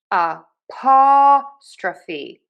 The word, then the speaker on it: apostrophe: We are stressing syllable number 2, the pa. Unstressed, reduced, super short, quick, and syllable 3 as well has the stra. And then we have secondary stress on that phi.